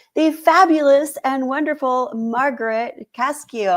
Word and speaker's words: Cascio: Today, I have with me the fabulous and wonderful Margaret Cascio. Am I pronouncing that correctly? Cascio, but that's close.